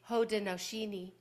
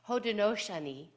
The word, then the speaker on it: Haudenosaunee: A part of the Hodenosini uh tradition. Let me pronounce that correctly. Excuse me. Hodenoshani tradition.